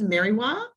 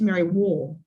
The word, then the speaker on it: Merriwa: And he pronounced it as Merriwar.